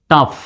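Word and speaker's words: tough: ও ইউ জে এইচ টাফ দেখেন টাফ বানান দেখেন শেষে জি এইচ আছে এখানে জি এইচ এর উচ্চারণ কিন্তু ফর মতো জি এইচ এর উচ্চারণ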